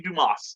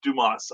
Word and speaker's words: Dumas: and christian basil dumbass it's french brian pronounced dew moss or yeah it would be dumas yeah dumas i'm uh unfortunately it's